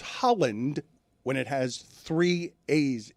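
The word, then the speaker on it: Haaland: Erling's name is pronounced Holland with an a sound. Holland. Not Halan.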